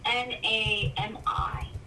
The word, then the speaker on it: NAMI: NAMI, so it's an acronym, so it's NAMI.